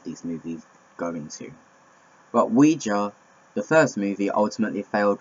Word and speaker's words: Ouija: know my facts is Ouija it's not Ouija you do not pronounce yes and no in French anyway we a Ouija board